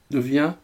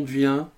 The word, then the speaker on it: Wien: d'un oscillateur ap on devient ou qu'on devine bon moi je le prononce à la française parce que j'ai eu l'habitude de le prononcer comme ça ça m'échappe rats de toute